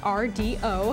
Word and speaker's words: Rdio: irresistible this week's pick Rio Rio pronounced RDO a combination of radio and audio is a new way